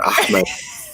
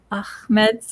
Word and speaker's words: Ahmed: So, shukran jazilan, Ahmed, for coming today. You see, he's saying Ahmed, not Ahmed.